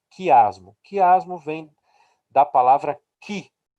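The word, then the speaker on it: chi: Para nós aqui, nós chamaríamos em português de X, mas no alfabeto grego, ela se chama Ki, né? C-H-I, pronuncia Ki, ok?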